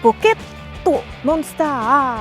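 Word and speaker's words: ポケットモンスター: Donc, Pocket Monster, avec le ER anglais, le A Monster, qui se transforme en A allongé, A Monster.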